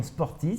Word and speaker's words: Sportiiz: Donc n'hésitez pas, vous téléchargez l'application Sportis, ça s'écrit Sportiiz, 2 I qui se suivent.